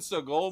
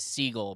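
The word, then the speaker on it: Seagal: Dude, have have you seen the new Steven Seoul movie? Yes. No. Which one? Yeah. You probably believe there's a new one. I believe it's pronounced seagull, bro.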